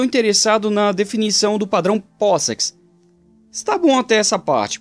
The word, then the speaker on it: POSIX: Linus estava interessado na especificação POSIX, inclusive a pronúncia é POSIX, não POSIX, como muitos falam.